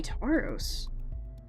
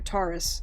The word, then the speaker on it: Taurus: it's the only t would be tauros or taurus sorry it's my own freaking like zodiac sign and i'm mispronouncing it as the pokemon uh alright taurus g